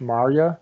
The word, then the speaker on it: Maurya: And I would point the questioner to a body of work that a gentleman named Ash Marya has done, His last name is spelled Maurya.